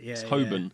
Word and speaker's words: Holborn: Holborn ants and pancreas I always pronounce it Holborn as well helping Hoban yeah the L was not even there apparently shadow Secretary of State